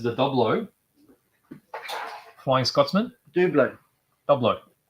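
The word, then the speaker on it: Dublo: double Flying Scotsman Dublin doublo people get offset when you say do blood phonetically it's do blow it's dude though but it identifies as Dublin okay because it's meant to be double O right okay that was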